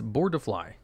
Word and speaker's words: Boardfly: That's not the correct word. It's Boardfly. Peony with Butterfly. It should be 3 syllables because Japanese names a combo boar, deer, and fly.